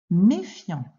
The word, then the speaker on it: méfiant: Donc, tu dois comprendre qu'il y a une lettre muette à la fin de méfiant.